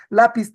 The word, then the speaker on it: lápiz: Lápiz también es una palabra grave. Esta palabra grave debería terminar porque es la obligación, debería terminar en ns vocal, pero no termina en es ns vocal, termina en Z. Al romper su tendencia natural, ¿qué es lo que haces? Le pones tilde. ¿Dónde? Donde marca el oído, donde marca el sonido, lápiz.